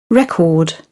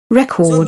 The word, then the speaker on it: record: now again record record now see here the stress is shifted here that means the rash will be stressed right record record this is the difference if you don't know the pronunciation difference he will think that it is instead of a noun he will think that it is a verb a verb he will